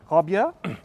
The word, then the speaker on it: Raabjerg: So, your work, Robia. Yeah. I pronounced it well. Very well, very well.